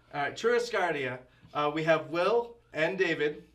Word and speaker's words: Churrascaria: Okay, you guys are gonna have to pronounce it. You want to do it? I'll Churrascaria. Alright, Churrascaria.